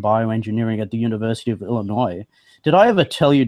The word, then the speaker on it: Illinois: Jill, that I lived at the University of Illinois when I was 7 years old for 1 year? No, I didn't know that. Oh, that's incredible. Champaign Urbana. Yes. And you pronounced it right, the Illinois, no S.